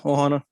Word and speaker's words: ohana: i say it correctly is it ohana is that how it's pronounced yeah ohana i'm pretty good that